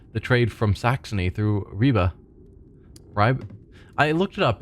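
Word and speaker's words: Ribe: trade from Saxony through Reeba. Ry, I looked it up. It's It's like reeba is how it's pronounced or something to that effect.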